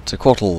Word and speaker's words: Tequatl: Oh, what up chaps, I'm and this is Taco Taco, or Tequatl if you want to pronounce it normally.